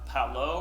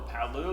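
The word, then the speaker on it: Palau: North Mariana Islands up I believe this is pronounce Paulo or Paulo there's a missionary who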